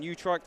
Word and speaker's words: Utrecht: Got a special in Utrecht, I believe that's pronounced.